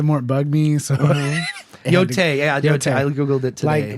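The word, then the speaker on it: Yōtei: I figured out how to pronounce it. Actually, it's Yotai.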